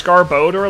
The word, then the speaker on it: Garbodor: really sad moment yeah it's just garbage and odor that's all it is but I think people